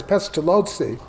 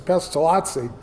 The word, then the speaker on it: Pestalozzi: I I think Aronn is right, it's Pestalozzi. But my advisor, Archibald Anderson, always referred to him as Pestalozzi, so I acquired that uh pronunciation.